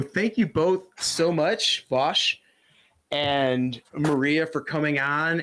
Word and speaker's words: Vaush: Oh yeah, I'm Vosh, spelled Vosh, pronounced Vosh, and don't view my